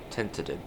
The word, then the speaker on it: Tenterden: Tenterden, that's how you say it.